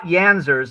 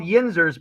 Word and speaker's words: yinzers: they yeah oh yeah they're not yanzers that's spelled wrong yeah yeah yeah it has nothing to do with yonzi um no uh they're called yinzers because in Pittsburgh the plural of you is yin's you know how in